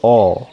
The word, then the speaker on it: ho: আমার আছে io ho, আমার আছে io ho। এইচের উচ্চারণ হবে না, আমরা জানি এইচ বা আক্কা এটা উচ্চারণ হয় না, এখানে হবে io ho।